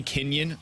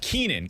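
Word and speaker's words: Keynan: Kenan Middleton I'm I I want to say Kenyan so bad when I look at the way that his name is spelled it's ke y n a n so Keenan Keenan Middleton is the newest edition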